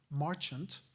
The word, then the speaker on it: Marchant: House from his native Philadelphia named Edward Dalton Marchant, M-A-R-C-H-A-N-T.